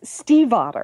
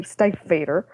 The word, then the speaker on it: Stiefvater: I had and she it's it's steve otter Steve honor ok yeah I had to look it up because I wanted to be able to say it properly because I think for the last I don't know five years i would say state vader but it's she says it's steve as in the name Steve and hotter as in